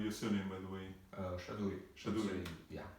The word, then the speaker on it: Shaduri: What is the right pronunciation of your surname, by the way? Shaduri.